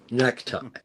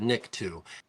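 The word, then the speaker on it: nikto: clatu barata nicku because everybody goes clatu barata necta. But the right pronunciation to Barata nicku is from the amazing film the day the earth stood still the original.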